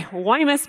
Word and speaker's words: Guaymas: Guaymas Basin I'm sorry Hawaii mess basin don't pronounce the G Guaymas Basin which is where